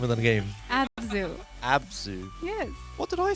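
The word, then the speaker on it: ABZÛ: ABS here's your first question how do you pronounce the name of the game Abu abzu yes what did I say as okay all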